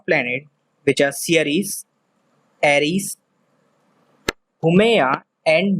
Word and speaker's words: Haumea: of other dwarf planets which are Ceres, Aries, Haumea, and Makemake. Please pay attention to their pronunciation. It's weird. It is Ceres, Aries, Haumea, and Makemake.